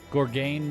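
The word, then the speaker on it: Gorgagne: Gorgagni. Gorgong Mills? Gorgong Mills. I think the second G is silent. Gorgain Mills?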